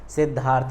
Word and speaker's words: सिद्धार्थ: इसमें आपको स्पष्ट है सिद्धार्थ, आधा दा बोल रहे हैं और धा पूरा बोल रहे हैं, सिद्धार्थ।